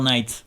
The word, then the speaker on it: Knight: Ouais, faut pas prononcer le K normalement. C'est Lady Goodakson qui me reprendrait là. C'est Color Knight en fait.